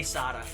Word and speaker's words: SATA: said s ports yeah I think it's actually pronounced SATA but I say Sada like I've been saying